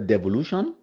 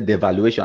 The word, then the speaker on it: devolution: to the ex now they beg for Devolution even though they know pronounce they say devaluation I mean forgive them